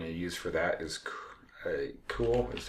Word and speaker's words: CeWL: So what we're going to use for that is cool, is how I pronounce it, CeWL.